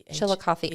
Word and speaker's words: Chillicothe: c-h-i-l-l yeah I c o t h e Chillicothe I'm just impressed that I know how to